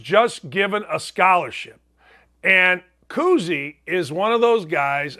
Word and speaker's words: Kuhse: Tommy Kuhse, it's not Bob Cousy's son. It's not Bob Cousy's grandson. It's spelled like Kushe.